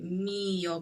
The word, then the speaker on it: mio: Caro mio ben. Okay, mio ben. The stress is on me.